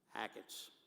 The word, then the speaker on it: Achatz: and to remember his name and how to pronounce it, Achatz.